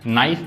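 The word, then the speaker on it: knife: नाइफ यहां पे के साइलेंट है।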